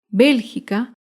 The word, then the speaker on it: Bélgica: Bélgica se acentúa en la antepenúltima sílaba.